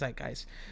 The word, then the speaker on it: zeitgeist: to not only perfectly reflect the so-called um zeitgeist of the respective era. Let me look up what that means. Let me look up what that means. definition zeitgeist definition. Okay, so it is pronounced zeitgeist the defining spirit or mood of a particular